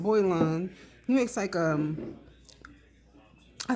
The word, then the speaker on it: Boylan: I always say that wrong. It's I said it right. Boylan.